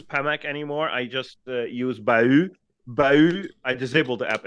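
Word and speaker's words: Bauh: No, but it's actually pronounced Bahoo.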